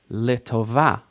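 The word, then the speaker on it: לטובה: So for example, this word, 3 syllables, litova. Final stress, litova.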